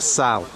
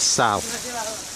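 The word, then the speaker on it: Salt: It's pronounced Sal. You don't pronounce the T, it's not Sol, it's Sal.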